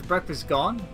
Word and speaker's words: Breakfastgun: Otherwise pronounced as Breakfastgun. The U technically being O-N-E. So technically his breakfast, guys, is gone.